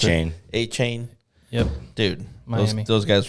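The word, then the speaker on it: Achane: How do you pronounce A-Chain. it? A-Chain.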